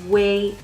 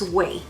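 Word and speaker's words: Ouai: product I love this way shampoo I think it's pronounced way dry shampoo hair mousse it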